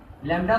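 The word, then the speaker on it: lambda: लैम्डा है क्योंकि इसका स्पेलिंग ही ऐसा है कि बुक में जैसे बुक में तो इस प्रोनाउंसिएशन लिखा नहीं है, लेकिन इसको लैम्डा बोलते हैं, ठीक है।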